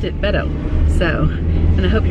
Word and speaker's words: Beto: was B ETL but he passes it he pronounced it Beto so and I hope he runs for president